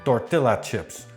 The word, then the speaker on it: tortilla chips: Al lado del plato ponemos un bol con más nachos que se llaman en realidad tortilla chips, correctamente pronunciado tortilla chips, porque los nachos son